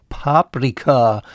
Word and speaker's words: Paprika: for bell pepper is paprika with stress on the first syllable paprika just like the